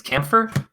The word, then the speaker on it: camphor: camp or tree or campor tree however it's pronounced I just know it's c m p h o r tree keer okay it's camper yeah ah what is